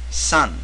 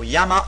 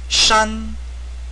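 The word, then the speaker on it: 山: Now the Chinese pronunciation of this character is actually shan, the first tone for those who know Chinese.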